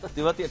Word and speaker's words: तेवतिया: कैसे लिया जाता है प्रोनाउंस किया जाता है उच्चारण क्या है उसको भी सीखना पड़ा राहुल तेवतिया तेवतिया ठीक बोल रहा हूं बिल्कुल बिल्कुल ऐसे चुपे